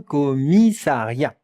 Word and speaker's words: commissariat: Un commissariat. Un commissariat. Regardez, c'est un nom masculin. Un commissariat. Et maintenant, la prononciation.